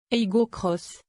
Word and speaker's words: Aygo X: Attention, c'est écrit Aygo X sur le haillon comme sur les montants de custode, mais il faut prononcer le X à l'anglaise, Cross.